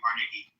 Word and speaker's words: Carnegie: more than I respect Carnegie or Rockefeller. They were very greedy men. Okay, so pronounce his fucking name right. It's Carnegie.